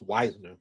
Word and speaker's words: Wisner: wow Wisner they said his last name is pronounced Wisner Quint Quint Tron Wisner good Lord what's up Daniel Barry what's up